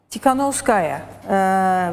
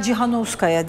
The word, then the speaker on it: Tikhanovskaya: Svetlana Tikhanovskaya veya Cihanovskaya diyenler de var.